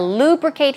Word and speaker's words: lubricate: Now, lubricate here is, the stress goes right here on the first syllable, lubricate.